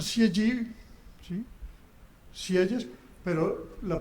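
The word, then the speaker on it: Sieyès: del libro El tercer estado o otros pronuncian cieg. Sí, siell es pero la pronunciación exacta me dice alguien que habla bien francés esch era un cura que escribió el libro del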